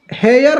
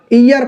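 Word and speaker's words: heir: लिखा हुआ है क्या हेयर लिखा हुआ है लेकिन इसका जब उच्चारण करते हैं तो पढ़ते क्या है ईयर पढ़ते हैं ईयर पढ़ते हैं ना तो ईयर जब पढ़ते हैं तो ये क्या हो गया?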